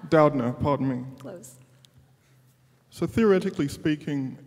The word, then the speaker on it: Doudna: is a question for a professor did not pronounce that correctly Doudna pardon me so theoretically speaking is it possible